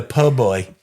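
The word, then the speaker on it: po' boy: You got to say it like the poboy.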